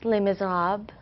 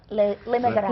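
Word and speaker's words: Les Misérables: Les Mis, Les Miserables. Les Miserables.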